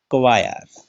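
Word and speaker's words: choir: इसमें देखिएगा सी के बाद क्या है, अच, तो क्या बोलते हैं, टीच, तो इसमें अच का उच्चारण नहीं होता। क्वायर, सी के बाद अच है, क्या बोलते हैं, कवायर, अच का उच्चारण नहीं हुआ।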